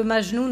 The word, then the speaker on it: Majnoun: Moi, je dirais que je pencherais pour une prononciation de Majnoun à la française, parce que quand même, Majnoun, c'est connu comme personnage. Majnoun et Leïla, etc. Dans la littérature arabe en traduction, on a l'habitude de prononcer Majnoun et pas Majnoun.